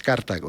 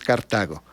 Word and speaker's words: Cartago: Era una obsesión para los romanos Cartago, que así se pronuncia, no es Cartago, es Cartago.